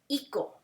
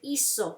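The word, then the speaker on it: hizo: do you know why because if you don't have the z you will say ico you don't want to say no right when i say iso c sound si so who's the cousin of the z the c okay they're cousins so of the c is the z so you will use iso with a z just like zebra we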